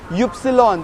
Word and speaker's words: Ypsilon: Y is pronounced as Ypsilon. Ypsilon, that is Y-U-P, Ypsilon.